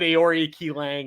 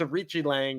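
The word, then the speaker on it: Aoriqileng: properly so oh yeah I said aori key Lang or something like that but it's a it's a Richi Lang which uh when I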